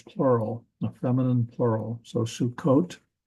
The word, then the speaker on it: Sukkot: So Sukkot. Notice that we spell it with 2 Ks in English, and that is due to this dagesh in the kaf there, Sukkot.